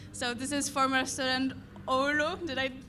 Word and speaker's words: Oulu: So this is former student Oulu. Did I pronounce that correctly?